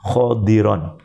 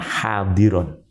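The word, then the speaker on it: خَضِرًا: khirju minhu habbam mutariba hati-hati bacanya khodiron bukan hadiron karena meang kebanyakan hadir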